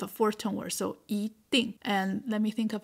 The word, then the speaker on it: 一定: Here, you hear me saying 一定, 一定. I didn't say 一定, but 一定. It's because this character, 一, simple as it is, the pronunciation have some variety. Yes. So 定 is fourth tone. So when E is used before a fourth tone, then you change it to second tone. 一定.